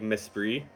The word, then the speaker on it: Mesprit: Is this pronounced like Mesprit? Like Esprit de Corps, but with an M in front of it?